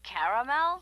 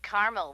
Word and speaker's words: caramel: Oh, the caramel? Yeah, that's what I said, Tina. Actually, you said caramel when it's pronounced caramel.